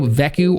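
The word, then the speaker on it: Vegeku: basically we are getting a brand new veku or beku actually is how you properly pronounce his japanese name but he is a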